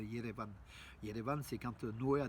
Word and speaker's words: Yerevan: qu'on ferme, alors que nous quand on dit Erevan, c'est pas tellement arménien en fait, ça traduit pas l'âme, la prononciation de l'âme arménienne en fait, de Yerevan.